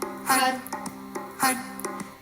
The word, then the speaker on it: Har: Har. Et on prononce har, H-A-R, har, har.